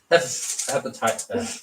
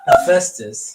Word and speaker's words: Hephaestus: Hepatitis. Hepatitis. Sorry. Hephaestus.